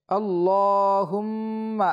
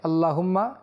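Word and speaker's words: اللّهُمَّ: শব্দের গত নাম রয়েছে আল্লাহ এই লামটা মোটা হবে এবং মিমটাও এক আলিফ পরিমাণ গুন্না হবে আল্লাহুম্মা আমরা যেন তাড়াতাড়ি পড়তে গিয়ে আল্লাহুম্মা এরকম না পড়ি সুন্দর করে উচ্চারণ করি আল্লাহুম্মা লা ইয়াতি এখানে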